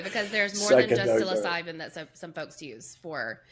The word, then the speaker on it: psilocybin: I'm adding too many syllables here. I said psychoan. Yeah, it's syllabin. Psilocybin.